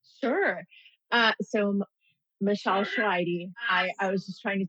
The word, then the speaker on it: Choairy: Uh, so Michelle Schwidy, I I was just trying to teach her how to pronounce my name because it is a hard one.